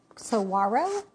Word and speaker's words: saguaro: The first one is a saguaro, I think is how you say it, like a W, right?